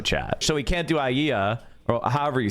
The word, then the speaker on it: aliyah: So, he can't do AIA or however you say it. Aaliyah. Yeah, Aaliyah. Thank you. Aaliyah. I can never pronounce that What you got